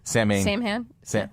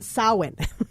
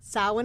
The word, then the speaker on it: Samhain: Sam, which we're mispronouncing apparently. First of all, it's a mispronunciation, and second of all, he wasn't a god. It's a holiday. Right. It's Okay. Samhain. Samhain. Samhain is the correct pronunciation, and it's this season.